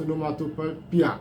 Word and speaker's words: onomatopoeia: Now most of you often pronounce the word as onomatopoeia. No. The word is a Greek word, onomatopoeia, meaning that it's